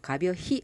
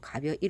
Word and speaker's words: 가벼이: 쓰고 이를 쓰냐 는 실제로 발음할 때 히로 안 끝나죠 가벼 히 안아 줘 가벼이 로 하기 때문에 부사 전 미사도